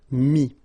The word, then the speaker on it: mis: Same thing here, final s is not pronounced, mi, okay.